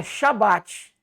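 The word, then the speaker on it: שבת: Porque no hebraico a a pronúncia é shabat. E é shabat, irmão. Não é com mudo não, tá? Não é com mudo, não. É shabate com i.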